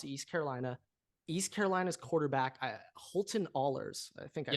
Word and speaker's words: Ahlers: when UCF lost to East Carolina's quarterback, Holton Ahlers, I think I pronounced that right. Ahlers, yep.